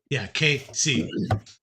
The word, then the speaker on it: KC: Is Casey? Yeah. KC. Put a harder emphasis on that other syllable. So that way it doesn't sound like Casey.